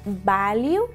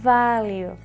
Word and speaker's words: value: la mayoría de personas cuando veáis una V no decís value si no hacéis value de acuerdo este con esta vibración value Porque la letra de